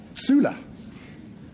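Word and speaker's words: zule: zul Patrick defines it because it's pronounced Sula it's a heraldic name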